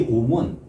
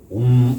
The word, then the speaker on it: 옴: 이거 들어보니까 산스크리트 하시는 분 얘기를 들어보니까 이 옴은 옴 이렇게 하면 안 된다는 거예요. 우리가 철수야, 영희야 할 때 마지막 뭘 부를 때 올리잖아요. 그 음으로 해야 된다는 거야. 옴 원래 발음은 철수야, 철수 옴 이런 식으로 원래 발음은 이제 그런 식으로 이제 돼야 된다는 거죠.